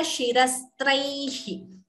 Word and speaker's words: शिरस्त्रैः: So the Visarga is not chanted completely.